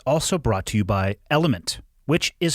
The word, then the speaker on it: LMNT: brought to you by element which is spelled lmnt but it's pronounced element i actually hear people